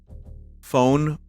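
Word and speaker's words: foehn: But again, album cover phone winds. It might be pronounced fern winds.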